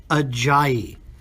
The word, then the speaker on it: Ajayi: because it is indeed Jay Ajayi. And you guys keep saying it, J-E. Like, you make up ways to pronounce this.